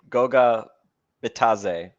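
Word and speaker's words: Goga Bitadze: Goga Bataze. There's the D is silent according to the Pacers game notes.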